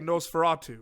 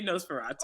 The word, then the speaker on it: NOS4A2: So people are saying Nosferatu, right? Yeah, you say Nosferatu.